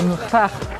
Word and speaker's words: gracht: No, it's not canal, it's a gracht. Yeah. How to spell that? How to spell that? Gracht? G-R-A-C-H-T.